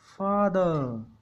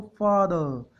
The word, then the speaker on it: father: FATHER, फादर। इसको हम थोड़ा सा साइलेंट रखेंगे आर को, फादर।